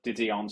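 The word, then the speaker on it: De Dion: going to call it didon suspension and which is correct in the English pronunciation and I got absolutely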